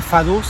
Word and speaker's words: Vaduz: Ltenstein no solamente es un principado, sino que es un principado muy interesante porque Fadus, que es la capital, se escribe badus, si lo pronunciáramos en español.